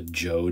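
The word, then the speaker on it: Zhou: this is called the Joe Dynasty the the zh transliteration in China is pronounced with a J sound but um the Joe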